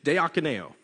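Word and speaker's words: διακονέω: too much time trying to learn how to pronounce this greek word and it's it's de akineo it means to serve and and it's it's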